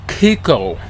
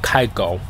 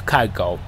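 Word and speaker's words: Keiko: car bobby's in a mustang keep i said kiko in the previous episode but i learned the other day that it was it's pronounced kaiko k-e-i-k-o is kaiko what i was thinking about was kiko kiko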